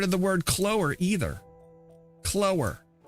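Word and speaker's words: choler: Clower. I've never heard of the word clower either. Clower. Is that how you say that?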